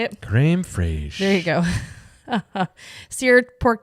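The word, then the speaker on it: crème fraîche: Creme fraiche.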